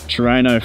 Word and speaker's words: Trueno: Trueno. I was rushing up on my knowledge last night, and that right there is a Trueno. I can tell you that much. So it's got that Trueno front, which is why Rod Thingo Isn't there?